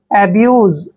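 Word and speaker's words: abuse: हमने ब लिखना है और यू एसई का उच्चारण यूज करते हैं क्या करते हैं यूज जब भी सस से पहले यू आता है तो एस का उच्चारण ज करते हैं एब्यूज एब्यूज मीस होता है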